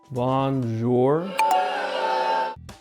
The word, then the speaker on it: bonjour: the sun goes down a common mispronunciation for english speakers is to emphasize the end you'll want to gracefully float over it with a nasal push bonjour your nose should feel a slight vibration and that's when you